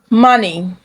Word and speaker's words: money: The O makes the sound uh. Uh. Uh. So, you don't say stomach. You say stomach. Stomach. Money. Money. Comfort. Comfort. Onion.